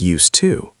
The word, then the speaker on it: used to: Remember, it's used to with D. Even though it sounds like used, too.